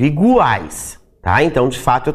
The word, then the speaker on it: iguais: E ele vai ser pronunciado, porque eu não digo igais, eu digo iguais, tá?